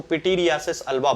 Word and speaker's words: पिटीरियासिस अल्बा: ये इसका सही प्रोनाउंसिएशन है, इसको पिटीरियासिस अल्बा बोला जाता है।